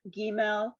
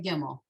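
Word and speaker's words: גימל: you did okay okay should we actually technically be saying gimel um well that's how it's spelled but she's right we all say gimmel i know and same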